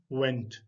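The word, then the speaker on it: went: और ये वेंट W से स्टार्ट हो रहा है, तो अपने होंठों को गोल करके आप इसको प्रोनाउंस करेंगे तो खुद ब खुद ही इसकी सही प्रोनाउंसिएशन निकलेगी, जो है वेंट।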